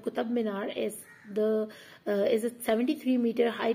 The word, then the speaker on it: कुतुब मीनार: दिल्ली में जब उनकी हुकूमत थी तो उस दौरान उन्होंने ये कुतुब मीनार जो है, अक्सर लोग इसको प्रोनाउंस करते हैं कुतम, एम बोलते हैं इनमें, जबकि ये कुतुब मीनार है और ये 73 मीटर